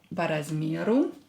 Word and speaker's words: по размеру: По размеру. По размеру. Ударение на букву Е.